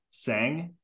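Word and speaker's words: Tseng: have he has uh his last name is spelled t-s-e-n-g-g sang yep yeah so okay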